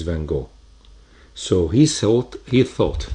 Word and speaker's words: van Gogh: difficult to pronounce and actually it is pronounced wrongfully all over the world for example here in Egypt we call it or in Arabic we'll call it van Gogh while his original name is van Gogh so he thought he